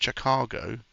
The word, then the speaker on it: Chicago: So it's pronounced Chicago.